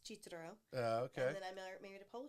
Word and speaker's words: Cicero: So basically, my original last name is Cicero, pronounced Cicero.